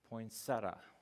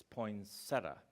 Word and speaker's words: poinsettia: first one pronounces it poinsettia, like with total emphasis. It's poinsettia. There's like no I there, it's poinsettia. And then the very next one I go to says, everyone says this wrong. It's poinsettia.